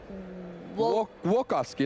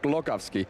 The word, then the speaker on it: Głogowski: Fun fact, actually, if you want to pronounce the Polish names, that L with the little thing through it is pronounced almost like a W. Głogowski, not Glogowski.